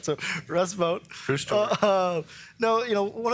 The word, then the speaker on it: Vought: your sister emailed in to make sure you pronounced your name, your last name right. So, Russ Vote.